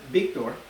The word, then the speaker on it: Victor: with the Spanish accent, the V in Espanol is like a B, like a B. So technically, if you say my name, it would be like a whole segment on my name. Isn't that funny, Dad? It'd be like Victor, right? Like with a B, and you roll your R's, and it kind of